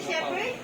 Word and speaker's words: shepherd: Teacher Lovely, what is a shepherd? Okay, kids. Shepherd is a person who takes care to the sheep. Okay? It's spelled with the PH. It's not pronounced shepherd. It's shepherd.